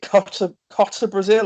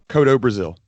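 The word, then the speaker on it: Kotto Brazil: was Alexander hammerstone vs is it copter Tata Brazil or Kota Brazil how did you pronounce that Cotto Brazil how dope Raziel do you know I first saw Cotto Brazil in battle riot so and because they didn't I couldn't hear them pronounce his name properly I swore that he was called Coco Brazil and he was a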